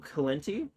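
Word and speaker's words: Cilenti: No, it's Enzo Kenti. C I L E N T I.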